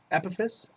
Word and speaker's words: epiphysis: We know that we have the proximal epithelius, I can never say that, epiphysis, I believe is how it's pronounced, the diaphysis, and then the distal emphasis.